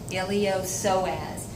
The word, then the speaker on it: iliopsoas: called ilio so adds the P is silent iliopsoas and when they come